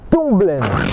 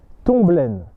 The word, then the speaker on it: Tombelaine: Premièrement, par Tomblaine.